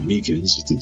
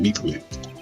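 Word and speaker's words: Meekins: Actually, Master Meakans Center told us that poor little doggy. Poor guy. I keep getting his name wrong and calling him Meekly.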